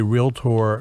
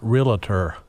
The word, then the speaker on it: realtor: much i appreciate hearing both you and debra say realtor not realtor we are a two-syllable profession not three um to answer your